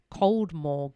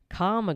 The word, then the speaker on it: Caldmore: One boy said that the man referred to Caldmore Green as, which most pronounce Coldmore Green, as Karma Green, which is what only locals did.